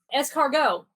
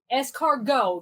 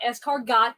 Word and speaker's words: escargot: nutty i need it escargot escargot not escargot the tea is silent it's snails you give